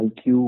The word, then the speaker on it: iQOO: Pronounce பண்ணும்போது iQoo அப்படின்னு சொல்லுவோம், ஆனால் ஸ்பெல்லிங் பார்த்தீங்கன்னா IQOO.